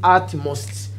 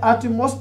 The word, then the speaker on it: utmost: will read it as utmost yet we don't have any place for called the artemis when you say atomos this one is wrong that's why i'm pronouncing it as ut most you see it is